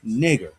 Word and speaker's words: Niger: What's the pronunciation for that? Nigger. That's the pronunciation for that word there.